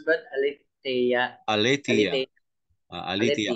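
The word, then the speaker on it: ἀλήθεια: Aletheia. Aletheia. Aletheia. Kasi yung accent mo, doon mo itataas yung boses. Sa Eta po.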